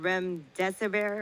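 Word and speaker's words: remdesivir: about REM disaver I don't know if I'm pronouncing it right but they're saying this is experimental drug called rem deserver or something that could actually really help with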